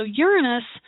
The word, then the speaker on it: Uranus: So Uranus, and I think I've told you all this before, Uranus, commonly pronounced Uranus, is obviously not the way a